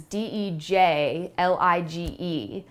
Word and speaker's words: dejlige: I just thought it was so cute, and it looks crazy when you say it, or when you spell it out, it looks crazy. It is Dejlige.